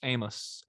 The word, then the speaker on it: Amos: amos cookies all right i believe it's famous amos amos it's famous because it has to rhyme with famous he would not do